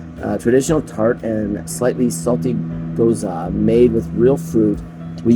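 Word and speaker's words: Gose: Wait, is it G-O-S-E? Goza, sorry. Goza. Goza. Okay, Goza. We have to pronounce it right. Goza wheat sour.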